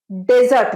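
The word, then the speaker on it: dessert: শুরু করি মিষ্টি দিয়ে মিষ্টি যে আমরা খাই ডেজার্ট বলি আচ্ছা ডেজার্ট মানে তো মরুভূমি তাহলে মিষ্টির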